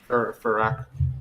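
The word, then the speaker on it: Fyrakk: Friek? Farak.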